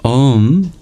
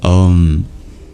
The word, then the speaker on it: Om: just the M sound so in order of most correct pronunciation to least we have at the top here the second here oh and the third om and they each represent